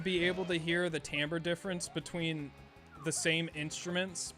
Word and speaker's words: timbre: You thought it was timber? Nope, timbre. Yeah, I don't know why it's pronounced like that.